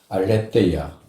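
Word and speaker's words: ἀλήθεια: 없어요 한번 따라해 보시겠습니까 알레데이아 알야 알레데이아 알레데이아 예 때는 th 발음으로 해서 때입니다 그래서 알레데이아 적어도 우리가 이런 중요한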